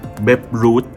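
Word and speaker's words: Babe Ruth: แล้ว คำ นี้ อ่าน ว่า เบ ด้วย นะ เบ Root นะ ครับ เบ Root เนี่ย ถ้า หา ข้อ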